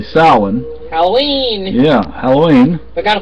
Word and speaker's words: Samhain: Almost didn't pronounce it correctly. Samhain.